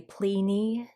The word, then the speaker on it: Pliny: And one Roman author and philosopher named Pliny or Pliny, um, I'm going to say Pliny just because that's where I was able to find it phonetically.